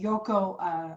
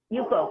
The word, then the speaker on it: Yuko: I noticed that you mentioned the Yoko straightening. Yuko. It's spelled Y-U-K-K-O.